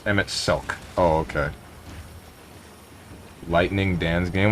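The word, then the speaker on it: Emet-Selch: Pronounced Emmett Selk.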